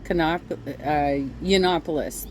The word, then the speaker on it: Yiannopoulos: he started working with Kanye West and Milo yiannopoulos that's how you say his name so the